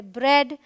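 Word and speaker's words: bread: तो ये है ब्रेड, ड्रेड, हेड, all right.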